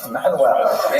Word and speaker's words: Manuel: But luckily for today, the only Portuguese king we're going to talk about is Manuel, which is pronounced Frank? No, Manuel.